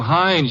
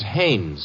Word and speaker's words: Haines: ah oh yeah well as your fellow named heinz used to fish no no not heinz haynes couldn't be hummingbird no